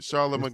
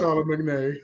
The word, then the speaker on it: Charlemagne: Silent letters. Yeah. This nigga don't know how to say Charlemagne. Charlemagne. Silent letters was fucking his ass up. Charlemagne.